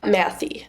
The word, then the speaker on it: Mathey: Mathey.